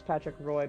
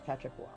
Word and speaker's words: Patrick Roy: Patrick Wah! Oh, Yeah, but spelled R-O-Y. huh. I'll be darned. Everyone thinks Patrick Roy, but it's Patrick Wah.